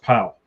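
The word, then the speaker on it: Pawol: P-A-W-O-L, yes. But I believe it's still pronounced Powell.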